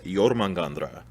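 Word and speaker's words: Jörmungandr: a grain of salt the pop proper uh pronunciation is yormangandra so there's the midgard serpent the world serpent yormagandra he encircles the world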